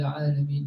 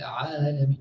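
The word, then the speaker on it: العالمين: So you say, Alhamdulillahi Rabbil Alameen. Then he says, no, my ayn. Alhamdulillahi Rabbil Alameen. No, the ayn wasn't right. Alhamdulillahi Rabbil Alameen.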